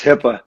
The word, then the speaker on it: Hyppa: have pro skill trainer coach um mentor hyper with me uh you gotta pronounce it right man it's hipaa hippo sorry sorry i knew that was coming